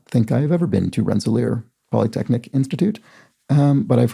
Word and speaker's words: Rensselaer: rensselaer rensselaer is pronounced rensselaer which is why i'm saying it correctly this time with the stress on the last syllable ah so rensselaer sorry i wasn't even